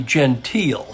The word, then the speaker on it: Gentile: facing stab asamani and Gentile or is it Gentile that's a good question let me see if I can't get some clarification on that it's actually Gentile so I've been saying it wrong I stand corrected so